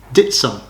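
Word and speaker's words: Dittisham: video will be featuring the small village of ditson yeah it's pronounced ditson's actually spelled ditty sham uh it's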